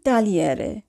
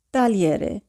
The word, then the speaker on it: tagliere: তো এখানে উচ্চারণ হবে লি অর্থাৎ জি উজ্জ থাকবে, GLE এর উচ্চারণ হবে শুধু লি।